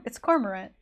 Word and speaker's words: cormorant: that that I'm that I'm pronouncing it's cormorant I don't comrade Cormorant Cameron it's definitely not camera I don't know sometimes